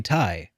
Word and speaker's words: Ti: last gen and also uh not even top tier how does that compare to my gtx 970 a lot better but that's beside the point okay because i cause i'm like my gtx 970 970 tie uh is is and i i called it